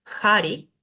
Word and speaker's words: hari: dice patanjali sino patanjali la H que nunca es muda y suena como una J suave hari hari la e que